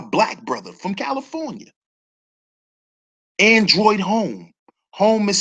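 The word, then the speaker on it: Homme: I told y'all about a black brother who has a designer shoe line, Android Home.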